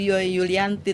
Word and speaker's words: Julianti: Kalau J itu Yulianti Iya, ya.